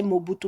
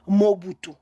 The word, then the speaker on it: Mobutu: originaire de gbado et le nom Mobutu vous vous le prononcez Mobutu mais chez nous en gbandi on nous prononce Mobutu Mobutu veut dire vous